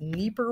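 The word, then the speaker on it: Dnieper: and also the Nipper yes that's how that's pronounced Nipper Rivers provide hydroelectric power and water for irrigation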